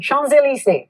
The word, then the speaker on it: Champs-Élysées: Champs-Élysées.